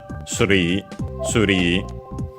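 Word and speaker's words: スリー: Yeah, the accent is on the ri as expected. Suri.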